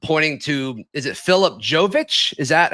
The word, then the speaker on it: Jovic: The J, yeah, I went online cuz there is Jovic, there's there's a couple different ways to pronounce that Serbian last name, but it's it's Jovic. Jovic, spelled j o v i c.